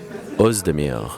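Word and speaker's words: Oezdemir: He also tells me that it's Uzdemir, but I did speak to Volkan yesterday, and he gave me the old French name. The way he says it is Uzdemir. Volkan Uzdemir.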